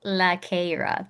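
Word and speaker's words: Lara: Yeah, it's pronounced LaRra. Three. LaRra.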